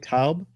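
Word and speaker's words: Toub: Yeah, Kansas City special teams coach Dave Taub.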